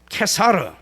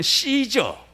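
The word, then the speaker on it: Caesar: 이가 이사는 퇴사를 해요 케사르 영어로 발음하면 씨저 벌레 사람이름 인데 이게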